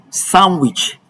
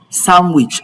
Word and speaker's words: sandwich: Although some variety of English will pronounce the D sound, but it is safe to say that the D sound should be omitted whenever you want to pronounce the word sandwich.